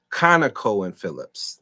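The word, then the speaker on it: ConocoPhillips: Conoco and Phillips. That's the right pronunciation.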